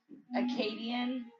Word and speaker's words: Akkadian: Akkadian.